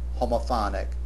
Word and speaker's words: homophonic: Again, notice that these two words fit the pattern. Homophony, homophonic accent on the second syllable for the noun form and the accent on the third syllable for the adjectal form.